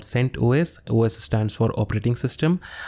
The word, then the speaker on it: CentOS: would be sent os some people call it centos but it is not pronounced like that it is called sent os os stands for operating